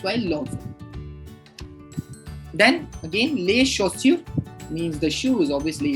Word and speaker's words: chaussure: So anyway, so that's why we call it les chaussures. So les chaussures, les chaussures, chaussures. Look at whenever AU is together in French, it is always the pronunciation is O.